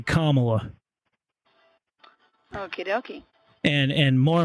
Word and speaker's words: Kamala: time pronouncing her name do you know how to say her name correctly Kamala so it's actually Kamala Okie doie and and